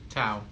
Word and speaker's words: Tau: Tao.